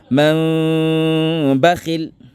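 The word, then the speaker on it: مَنْ بَخِلَ: Donc, nous avons ainsi dans la prononciation man bakhil, man bakhil. Ça va? Tu ne colles pas les lèvres pour ne pas que ça soit le mime avec shadda. Ça va? Tu rapproches les lèvres, mais tu ne colles pas au fait.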